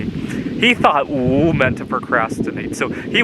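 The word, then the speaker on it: 五: In Chinese, 5 is pronounced "oo," so my mom would say, "Come on, let's get up.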